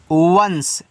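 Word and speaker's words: once: ओ एन सी ई इसको पढ़ते हैं वंस।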